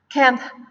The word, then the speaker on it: can't: Jadi saat kalian pengucapan can't, itu tuh ada can't. Jadi ada kayak T tapi nggak begitu jelas banget. Kalau kalian sulit untuk mengucapkannya, kalian juga bisa mengucapkan cannot.